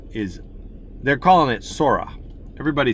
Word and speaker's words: Sora: So Sora, Sora, roll the R, people.